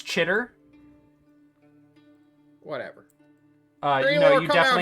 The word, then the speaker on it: Chitter: You're a shitter. It's pretty standard. It's Chitter. Whatever. No, you come out here, I'm gonna give definitely you a mispronounced briefing. it. It's Chitter.